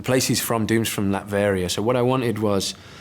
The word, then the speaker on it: Latveria: Latveria, yeah.